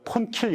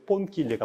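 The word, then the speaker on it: Ponchielli: 우리가 폰킬리 그러는데 뽕키엘리가 맞는 발음이 되겠습니다.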